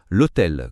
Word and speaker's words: hôtel: L'hôtel, comme histoire, commence par un H muet, c'est pourquoi on dit l'hôtel.